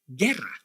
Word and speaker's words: guerra: and the second one Guerra agua Guerra but why why you must pronounce the vowel u in the first word but you must not in the second word well I promise you